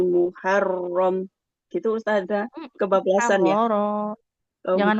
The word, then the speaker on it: محررا: Muharrara. Oh, Jangan muharram.